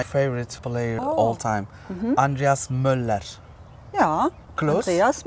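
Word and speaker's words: Müller: think okay this is my favorite player all time Andreas Muller yeah close Andreas M M M because we don't uh speak the r at the end you know M and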